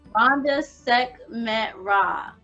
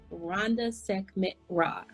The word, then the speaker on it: Rhonda Sekhmet Ra: Rhonda Sekhmet Ra. Rhonda Sekhmet Ra.